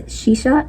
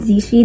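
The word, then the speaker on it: 西施: Like, the main character's name is Shisha, but it's spelled Xishi, and I was pronouncing it Zishi the entire time until I like Google translated how to like pronounce it.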